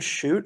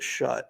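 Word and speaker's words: Schutt: what cost um bringing is it Jaden shoot or is it shut I've never really how to pronounce it's shoot yeah bring him in from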